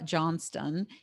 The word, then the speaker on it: Johnstone: to bring you Debra Johnstone. And it's actually looks like John Stone, but she is in Australia, and that's how they pronounce it there.